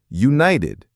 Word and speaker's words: united: The T in meeting is a flap T. Meeting. The T in united is a flap T. United.